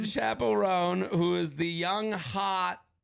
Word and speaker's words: Chappell Roan: I'm obsessed with um Chapel ran Chapel rone uh Belle just helped me with my pronunciation Chapel rone who is the young